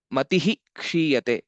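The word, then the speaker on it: मतिः क्षीयते: um, Subhashita Parayanam is whenever visarga is followed by ksha or sa, and this particular combination of um, sanyukta aksharas, the visarga has to be pronounced fully. So matihi kshiyate, that was the example which we saw. Matihi kshiyate. So we'll have to tell the full visarga.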